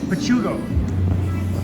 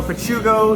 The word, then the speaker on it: Pachuco: How do you pronounce this location? Pugo. Awesome. Thank you. So, pachugo gelato.